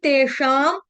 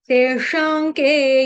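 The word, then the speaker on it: तेषां: बोलेंगे तेशाके योग वित्तमा हमारे मुंह में तेशाम बैठा हुआ है लेकिन तेशाम नहीं है श के ऊपर जो अनुस्वार यानी अनुस्वार बोलते हैं बिंदी को जो अनुस्वार है उसका उच्चारण अनुनासिक म की तरह किया जाएगा। क्यों? क्यों किया जाएगा? क्योंकि आगे आपका आ रहा है क से कबूतर इसलिए कभी करके यहां पे लगा दिया।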